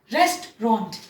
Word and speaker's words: restaurant: रेस्टोरेंट, रेस्टोरेंट, नॉट रेस्टोरेंट, नॉट रेस्टोरेंट, नॉट रेस्टोरेंट, नहीं। हम क्या बोलेंगे हिंदी में, देखिए तोड़ के लिखा है, बहुत इजी है। आराम करना, रेस्ट, रेस्ट, रॉन्ट, रेस्ट, रॉन्ट, restaurant.